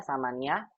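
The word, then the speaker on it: ثماني: Kalau mudoh maka ya-nya dimunculkan begini, samani daqaiqa. Begitu Ibu. Tapi kalau seandainya dia tidak dalam keadaan mudoh, dibacanya dengan samanin begini. Begitu Bu. Karena kalau sebagai mudof itu nggak boleh bertanwin kan ya Ustadz ya? Betul, karena tidak boleh bertanwin makanya muncul ya-nya lagi. Ya, samani daqaiqa begitu.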